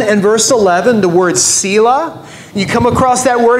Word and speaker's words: Selah: letters it comes from the hebrew word pronounced the same way sila and it just means